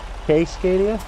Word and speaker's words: Cascadia: Casecadia.